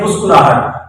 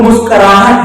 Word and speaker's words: مسکراہٹ: وہ جدوجہد ہے۔ جدوجہد عام بول چال میں استعمال ہوتا ہے مسکراہٹ، لیکن ٹھیک معنوں میں صحیح جو تلفظ ہے وہ مسکراہٹ ہے، کاف کے اوپر زبر ہے۔ اسی طرح کہا ہوتا